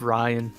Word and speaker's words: Rion: All Yeah, right, so they're, I would go with Ryan.